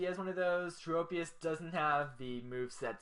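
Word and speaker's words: Tropius: I believe it's pronounced tropus with a long o and it looked like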